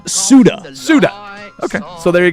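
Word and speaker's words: Ceuta: It's pronounced Suda.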